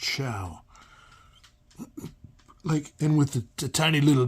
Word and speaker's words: Show: It should be show, but I heard it's pronounced Shao.